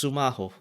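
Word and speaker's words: スマホ: break PL oh um this is how it's pronounced sumaho so uh um it's a function of time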